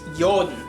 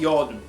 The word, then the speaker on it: Jotun: I almost said Jotun. It's Jotun. It's pronounced Jotun, like yo.